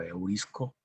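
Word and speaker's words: εὑρίσκω: Entonces, este verbo, que se puede más o menos pronunciar como eurisco, significa entonces encontrar, alcanzar, inclusive hasta alcanzar.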